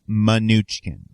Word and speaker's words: Mnuchin: So we should clarify, according to the internet, which is never wrong, his name is pronounced Mnuchin.